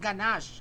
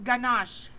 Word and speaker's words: ganache: Ayan, it pronounced ganache. Ito po i-highlight natin. Nakikita po? Ayan, so that is ganache. It pronounced ganache. Hindi siya ganache it's ganache.